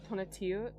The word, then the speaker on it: Tonatiuh: I don't You know how to pronounce that? Tonatiuh?